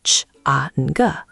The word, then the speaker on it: chǎng: Second, chang, is tone 3, the dip.